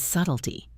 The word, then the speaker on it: subtle: Remember to pronounce it without the B, subtle.